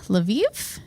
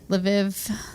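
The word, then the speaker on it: Lviv: in the city of laviv is that how you would pronounce that l apostrophe Viv yeah maybe laiv laiv so Viva laiv right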